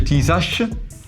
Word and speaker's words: Tisas: Si scrive Tisas, si legge Tisash, che in Brianzolo fa anche rima con Besash, cioè un accrocchio, un qualcosa che sta insieme con gli stuzzicadenti.